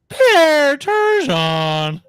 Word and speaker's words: Turgeon: You said Turgeon's name wrong. Pierre Turgeon. It's Pierre Turgeon.